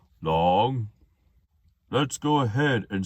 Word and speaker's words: 龙: The Chinese translation of dragon is long, just like saying the word long, but you say it like this, long.